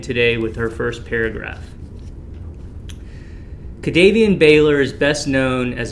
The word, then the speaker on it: KaDavien: Did I get that right? Pronunciation? You got it right, and that's why I was smiling so big when we started.